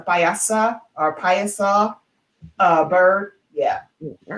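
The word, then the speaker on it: Piasa: combination of phoenix paisa it's spelled p-i-a-s-a so that's the name it native american name as a payasa or uh bird yeah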